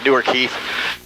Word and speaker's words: Newark: Ohio it's just east of Columbus it's actually newer Keith the way people pronounce Newark in Ohio's Newark and that keeps